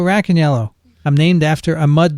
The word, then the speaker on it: Racaniello: it's uh cold so black and yellow remember that everyone that's how you pronounce my name black and yellow rack and yellow i'm named after a